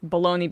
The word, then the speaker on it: bologna: Well, I had that same experience with baloney being spelled Bologna. Oh, yeah. Well, that I can understand. I mean, there's like, weird silent stuff, but like at the